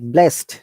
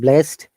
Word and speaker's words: blessed: If you ever find double SED, all this D sounds like T. Like blessed, not blessed. Remember, sometimes it should be in between D and T. If you pronounce it quickly, hey, I've been blessed by his prayer, for example.